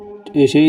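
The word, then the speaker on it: ث: সা যখন উচ্চারণ করবেন তখন জিহ্বার আগা সামনের উপরে যে দুইটি দাঁত আছে সেই দুই দাঁতের আগার সঙ্গে লাগিয়ে উচ্চারণ করবেন।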